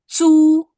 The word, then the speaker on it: 租: Nah, C harus sama Z harus bisa dibedain nih. Pertama, Cu zu. cu Jangan cu, tapi zu. Kayak kita bacanya kayak J.